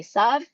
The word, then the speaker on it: Esav: And in English, Jacob is often pronounced Esau. I'm going to say Esav.